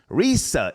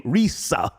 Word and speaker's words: Rizza: to dismiss the case Risa Islam that's how you say his name Risa okay has uh he's